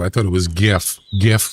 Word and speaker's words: GIF: I pronounce GIF with a G. Yeah, that's not how it's pronounced.